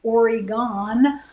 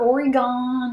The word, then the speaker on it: Oregon: is i was like it's oregon oregon and not oregon it's oregon i don't think you